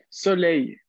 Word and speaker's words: soleil: Soleil. Atención, aquí la L final y la I hacen este sonido Y.